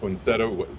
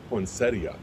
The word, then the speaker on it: poinsettia: We the pronunciation poinsettto was was really fun for us, but but now I I also hear people pronouncing as poinsettia. Do you know do you know anything about that or is it just regional stuff? I I think it's regional.